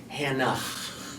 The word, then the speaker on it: Hannah: So it's like Hannah. Hanah. If you want to hear it at the end. It's Hannah. That's really fun. You can, there's kind of a silent H at the end.